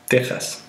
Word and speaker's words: Texas: in Spanish the most important examples of these pronunciation are the words Mexico Mexico Mexico andas Texas teas however there are occasional examples of words with